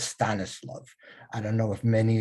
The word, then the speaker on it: Stanislav: Now, Ivano-Frankivsk used to be called, I use the Yiddish pronunciation because I could say that better than the Polish pronunciation, but that was Stanislav.